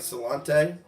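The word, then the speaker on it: sláinte: my friend or Gaelic well now that I pronounce it right saying salon teh pretty neat yes we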